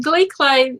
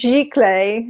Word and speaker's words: giclée: Yeah, and they can get Glee clay. Glee clay. Actually, it's pronounced giclée. It's a French word, giclée.